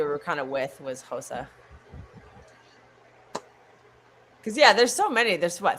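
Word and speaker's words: Xhosa: in the Western African places, you do actually pronounce some of those things. As far as I know, I don't speak Tosa, so don't sue me. Hosa, yeah.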